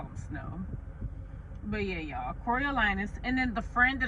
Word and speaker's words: Coriolanus: It's not Cornelius. It's not pronounced Cornelius. It's Coriolanus Snow. Or just President Snow for short, or we can just call him Snow. But yeah, y'all, Coriolanus.